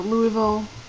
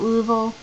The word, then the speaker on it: Louisville: kind of like uh Louisville I call it Louisville apparently it's called Louisville so Lille and nins I